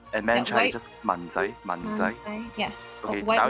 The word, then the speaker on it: 文仔: And Yeah, Manchai is just 文仔, 文仔.